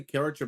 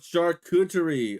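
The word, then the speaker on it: charcuterie: It's pronounced uh shard tree. Hold up. Uh shutoerie. Oh shuterie. Oh that makes a lot more sense.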